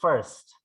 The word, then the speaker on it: first: Kalau ini dibaca first. Nah, ini orang bacanya fierce. Fierce itu artinya kejam ya. Jadi ini baca first.